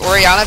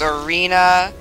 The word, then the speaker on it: Orianna: Like Orianna becomes Arena.